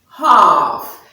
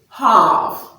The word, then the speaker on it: half: In AL also, you don't say palm. So the L is silent. What you hear is the R sound. So AL make the sound R. Or you could say the L is silent in words with AL, where you have words like palm and half, not palm. Neither is it half. So it is palm, half.